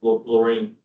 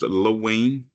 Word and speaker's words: Lorraine: Lorraine. Please unmute yourself when you're ready to speak. I don't know if you can hear me. Oh, there we go. Yes, we hear you. Yeah, that's pronounced Lowain, AT&T.